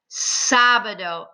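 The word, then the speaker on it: sábado: v i e and remember the v sounds like the letter b sabado accent on the a domingo sunday repeat lunes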